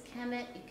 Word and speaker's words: Kemet: I've talked about this, it's the consonants KMT, it's Kemet, you can write it however you want. It was just the hieroglyphs for these sounds, Kemet.